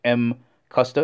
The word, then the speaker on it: MCUSTA: name of a company here pronounced M custa It's a combination of